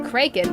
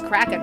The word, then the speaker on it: Kraken: sea somewhere and for a while I kept pronouncing it kren but I guess a proper pronunciation is cracking for whatever reason I don't know why but